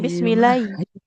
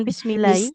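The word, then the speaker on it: بسم الله: Eh, jangan bismillahi. Eh, jangan bismillahi tapi bismillahi. Jadi, huruf H-nya jelas.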